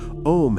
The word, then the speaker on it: Om: Om has three sounds, A, U, M.